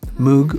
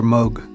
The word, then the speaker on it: Moog: How about Moog or Moog? Oh, that's a good question. I say Moog. Okay, I say Moog too. You too? I think Moog is correct, but I prefer What? Moog. That's what they say.